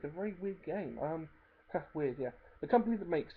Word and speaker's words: Wyrd: Weird, yeah. The company that makes it is called Weird, spelled with a Y, so it's WYRD.